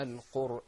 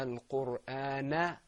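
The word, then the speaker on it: الْقُرْآن: Now, why didn't we pronounce that fatha? Why do you pronounce? Why didn't we pronounce it? Because we stopped. Because we stopped. Exactly. Yeah. Now, suppose if I went into the next verse, I would have said, Ar-Rahmanu 'allama al-Qur'ana khalaqa al-insan. I would have pronounced that fatha.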